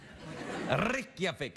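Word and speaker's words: Reykjavík: a direct flight from washington to your vic rikyavic it's pronounced i'm telling you this show's going to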